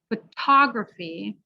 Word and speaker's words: photography: on the dough but the second word the stress is on the to so it becomes a clear t so photo photography you got the last